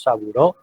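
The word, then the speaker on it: Sabouraud: que proviene del francés, le decimos saboureux, pero se escribe sabureaut, ustedes se lo van a encontrar muy frecuentemente en sus lecturas.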